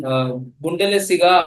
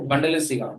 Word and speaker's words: Bundesliga: See, Bundesliga or Bundesliga, both of them are correct pronunciation of the particular word, which is a Germanic word, right? We don't have to pronounce it in English.